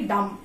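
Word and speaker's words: dumb: দাম দাম ডি ইউ এমবি যদিও কিন্তু আমরা উচ্চারণ করি ডাম্প ঠিক আছে মানে কি বলছি বোবা ইংরেজি কি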